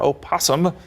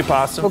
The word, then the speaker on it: opossum: You can say possum. You can say opasum. Okay. They're interchangeable, right? Technical term is opasum, but we say possum.